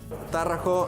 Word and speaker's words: Tarraco: Tarraco is the right pronunciation.